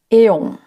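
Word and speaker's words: αἰών: Uma palavra muito usada no texto é o termo grego aon. Pronunciado eon era usado na Grécia clássica para transmitir a ideia de um período considerável de tempo, uma longa era.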